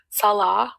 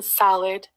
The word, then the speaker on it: Salah: They mispronounce my Syrian husband's name Salah, which means prayer in Islam, by the way. They call him Salad, right in her thumbnails.